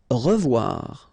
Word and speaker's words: revoir: Revoir. Okay, remember to pronounce this like a revoir. O-E together is pronounced like wawa.